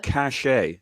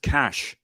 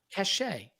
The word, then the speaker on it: cachet: And earlier, what was that fancy pronunciation of cachet? It's pronounced cash. Moolah. No. Money. Cachet.